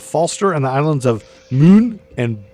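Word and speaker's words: Møn: the island of Falster and the islands of Moon and Bowie. You're really nailing these. That's actually how pronunciations.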